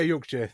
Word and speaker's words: Yorkshire: Yeah, Yorkshire.